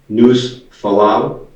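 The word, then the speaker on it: Nușfalău: And how do you pronounce that? News Falau.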